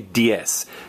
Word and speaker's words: diez: And again, we've talked before about, everybody say diez. Diez is the number 10, and it's spelled D-I-E-Z. The Z is pronounced as an S.